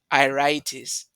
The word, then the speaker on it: iritis: How are you pronouncing this one? Iritis.